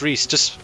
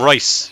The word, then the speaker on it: Reese: Oh god, I butchered. It's Reese. Reese. I just call him Rice.